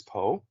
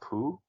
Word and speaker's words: Po: S as Jack Black as po not Pooh you